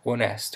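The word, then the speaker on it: honesto: pretty versatile uh consonant if the word begins with an H the letter is then silent so you don't pronounce it for example when the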